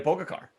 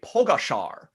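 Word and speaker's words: Pogačar: butchering it that badly i believe that it's actually today pogashar like like i think i'm pretty close pogash pogash i thought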